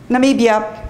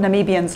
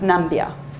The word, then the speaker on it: Namibia: you know it's what namibians look like um you know do when they do namibia it's also the the one that famously um president trump couldn't pronounce and pronounce nambia um so but lots